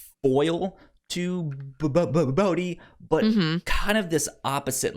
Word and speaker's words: Bode: Because I was reading it as just Bode. They did pronounce it as Bodhi.